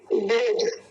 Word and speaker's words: बोध: नहीं, बोध, वो ध ही है, लेकिन ध बोलेंगे, बोध नहीं, बोध ऐसा।